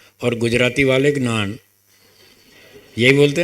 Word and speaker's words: ज्ञान: संस्कृत वालों ने हमको ऐसे ही सिखाया कि इसका शुद्ध उच्चारण है ज्ञान।